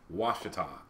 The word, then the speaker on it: Ouachita: It's O-U makes a W sound. Ouachita.